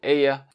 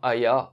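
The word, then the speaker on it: Häyhä: le fugi du Simo ea oui ça se prononce comme ça en finlandais mais je le tenterai même part donc ce sera Aya en bon français et donc ce bon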